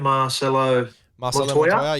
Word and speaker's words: Marcelo Montoya: Is it how do you pronounce his name? Marcelo Montoya, yep.